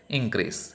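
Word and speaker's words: increase: നമുക്ക് സിലബിൾ എങ്ങനെയാണ് ഇപ്പോൾ ഫോർ എക്സാമ്പിൾ ഇൻക്രീസ് എന്ന് പറയുമ്പോൾ അത് നൗൺ ആണെങ്കിൽ അതിൻ്റെ ഫസ്റ്റ് പാർട്ടിലായിരിക്കും അതിൻ്റെ സിലബിളിൻ്റെ സ്ട്രെസ്സ് വരുന്നത് അല്ലേ, ഇൻക്രീസ്.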